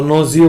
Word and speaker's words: gnosio: जी इसके अंदर साइलेंट है, ठीक है, तो नोजियो बोलेंगे इसको, नोजियोलॉजी।